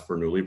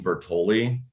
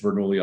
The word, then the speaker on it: Bernoulli: Yeah, because I always use the fish avatar, and the problem was everyone on Clubhouse was too dumb to pronounce Bernoulli properly, and they kept calling me Bertoli.